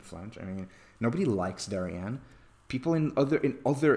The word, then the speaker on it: Darien: I mean nobody likes darianne people in other in other exclusively white exclusively Rich suburbs um mock them as sing Darian rhymes with Aryan that's how racist Dorian